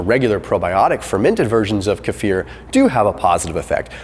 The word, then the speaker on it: kefir: number 17 is kefir some people call it kefir I've heard that it's properly pronounced kefir either way if you